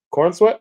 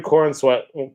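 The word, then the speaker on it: Corenswet: David uh David Corweat is how you pronounce it. I think yeah, his last name. Yeah. Um, David Corweat badly wants to be a Jedi in Star Wars.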